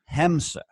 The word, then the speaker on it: Hamsa: So, and I want to make sure that everyone is getting your name correctly, because it's spelled Hamsa, right? Mm-hmm. But it's pronounced Hamsa.